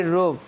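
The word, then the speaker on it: rope: তারপরে রোপ, ROP রোপ মানে দড়ি। এখানে আরতে বসনা র, ওতে ওকার। এখানে শব্দের শেষে ই আছে তাই ই নীরব থাকবে, তাই রোপ।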